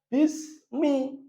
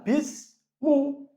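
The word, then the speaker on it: بِسْمِ: Maka bacanya bismi, bukan bismu. Kenapa? Karena dia majrur. Kenapa majrur? Didahului huruf jar. Apa tanda jarnya? Tanda jarnya kasroh. Kenapa kasroh? Karena dia isim mufrad. Jadi bacanya bismi, bukan bismu. Bismillahi, bukan bismullahi, bukan bismallahi.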